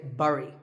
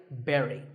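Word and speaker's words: blueberry: I used to say burry I mean it looks like that right but this word sounds just like the Barry in strawberry so once again Barry but back to silent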